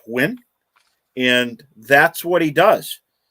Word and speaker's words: Huynh: nguyen and you know his name is h-u-y-n-h but it's pronounced win and that's what he